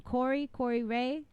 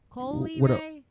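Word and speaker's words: Coi Leray: Corey Ray. Oh, Corey. Ray. Oh. Coley Ray. How do you pronounce her name? Is it Corey Ray or Coley Ray? Coley Ray.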